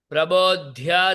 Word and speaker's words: प्रबोध्य: स्तोत्रैः प्रबोध्य शयनात् प्रबोध्य प्रबोध्य धकार महाप्राण है।